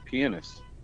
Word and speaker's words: pianist: I said pianist. Oh. I didn't expect that at all. Well, it rhymes with penis.